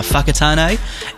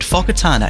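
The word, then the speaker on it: Whakatāne: here in new zealand it's not uh whakatane it's so it's not hey oh it's close it's it's it's a it's a word fokatana that's how you say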